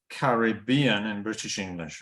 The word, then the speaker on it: Caribbean: a word uh like Caribbean in British English right okay so we use these little blocks uh so the first two syllables and not stressed then you get the third syllable which is stressed huh why not carry